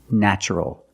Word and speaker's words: natural: the description is natural the first syllable is pronounced with a short a like black cat a a nn natural natural is the adjective